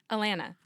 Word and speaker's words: Atlanta: Drop the T. Atlanta.